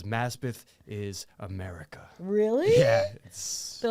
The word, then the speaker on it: Maspeth: so uh Queens mess Maspeth so the signs I read out the like window on the train are correct it is it's pronounced how it's spelled Mass path yeah I feel like